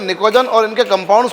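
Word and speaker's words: pnictogen: नाइट्रोजन family elements नाम दिया इनको हम लोग, इन एलिमेंट्स को हम लोग निकोजन्स भी कहते हैं। We call them निकोजन। P silent है यहाँ पर।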